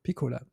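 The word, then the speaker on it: Picula: Just small objection you will remember to pronounce my name forever if you remember pizza it's a pizza double z anyway but I would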